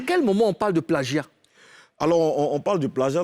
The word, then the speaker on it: plagiat: On dit plagiat. C'est plagiat. Répète après moi, plagiat. Plagiat. Voilà. C'est pas plagiat. Comme je l'ai dit. J, c'est Voilà, Gia. plagiat.